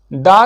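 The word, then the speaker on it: the: दा का प्रोनाउंसिएशन दी होगा।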